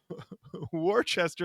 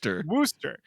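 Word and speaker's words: Worcester: Massachusetts people are going to come at you for pronouncing Wararchchester like it's spelled instead of how it's pronounced. Worooster.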